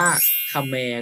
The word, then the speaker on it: เขมร: ชนิด หนึ่ง นะ ครับ แต่ ถ้า เกิด ว่า เรา ไม่ อ่าน ว่า แขม ล่ะ อ้า เรา อ่าน ว่า ขะ แมร์ ก็ ได้ ค่ะ แม่ หมาย ถึง ชาว เขมร หรือ ชาว กัมพูชา นั่น เอง เพราะ ฉะนั้น ถ้า เรา